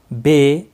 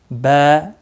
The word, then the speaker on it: با: لہجے میں ادا کریں، اردو تلفظ سے پرہیز کریں، جیسے بے، تے، سے، ہے، خے، توئے، زے وغیرہ جس طرح ہم اردو میں پڑھتے ہیں ہرگز نہ پڑھیں، بلکہ با، تا، سا، حا، خ، طا،